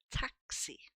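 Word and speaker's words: táxi: And of course the word taxi. Notice the accent here is telling us to stress this word on this particular syllable. Taxi. It's also opening that a making it sound more like an a.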